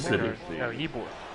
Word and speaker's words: Ybor: No, Ybor. Ybor City. And that's how it's pronounced.